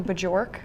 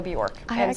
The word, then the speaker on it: Bjork: Um and then my last name is Borkc, which is spelled with a J. So people will call me Bajor. So my name sometimes is Bajork. And in reality it's Bjork.